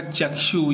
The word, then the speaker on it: चक्षु: चक्षु का सही उच्चारण क्या होगा? जैसे ऋषि का ऋषि होता है, आकृति का आकृति होता है, उसी प्रकार चक्षु का उच्चारण क्या होगा? होगा चक्षु।